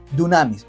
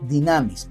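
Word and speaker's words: δύναμις: En muchas ocasiones el Nuevo Testamento utiliza la palabra griega dunamis o dinamis, porque la palabra, la que es como U, es ypsilon. Se puede pronunciar como U o como I.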